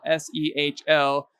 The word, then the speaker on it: Sehl: And if you're confused about how to pronounce his last name, which is spelled S-E-H-L, a good way to remember is it's Sehl, like rails.